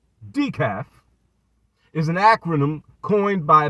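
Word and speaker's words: DICAF: So, DEKAF, in case you need the definition, DEKAF, pronounced DEKAF, is an acronym coined by boxing YouTuber Dante Williams.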